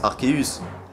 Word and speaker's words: Arceus: un sacré casse-tête bon lorsqu'on voit son nom et qu'on le lit en français a logiquement ça se prononcerait art ce bon si vous